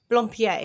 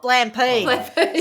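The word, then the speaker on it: Blampied: It should be pronounced Blumpier. All right. They call it Blampede.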